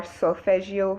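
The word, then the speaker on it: solfeggio: a lot of people are familiar with are solfegio frequencies um and it's spelled s-o-l-f-e-g-g-i-o and i listen to different frequencies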